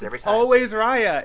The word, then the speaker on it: Raya: just go back and forth and how i pronounce it every time always raya it's ryan no i always go back and